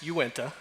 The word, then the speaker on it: Uinta: been around for around by the way it's pronounced you went ax just so everyone knows that that's always one of the hardest things I think today just introductions with other people I've heard you went to pronounced ten different ways which is always a